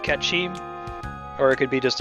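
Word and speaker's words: Cait Sith: So it could be like making fun of the fact that it's actually pronounced Ketchi, or it could be just a typo on Kate Sith somewhere that's funny.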